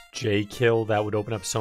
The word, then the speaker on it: Jekyll: the game only is jekylls pronounce j kill that would open up